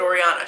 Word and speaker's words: Oriana: But I pronounce it Oriana. She pronounces it Oriana. My husband, his is like a blend of the two, but that's a whole nother story.